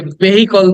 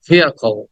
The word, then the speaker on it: vehicle: Then the next word is, আমরা এটাকে ভেহিকল বলি, ভেহিকল বলি, কিন্তু শব্দটা উচ্চারণ হবে vehicle.